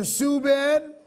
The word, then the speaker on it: Subban: the San Jose improv my full name is pronounced Subin but since I didn't